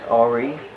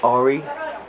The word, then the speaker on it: Henri: Henri. French. French for Henry. Henri. Henri. Alright, because I was like, the last name, I was like, I'm guessing my people, but I don't. Henri.